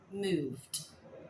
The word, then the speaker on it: moved: Moved to Spain. Be careful with the pronunciation. Hey, this ED sometimes sounds like a T.